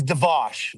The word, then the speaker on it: Dvos: I I say your last name is Dvos. Is that the right way to say it?